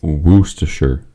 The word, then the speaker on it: Worcestershire: I think it's pronounced Worcestershire.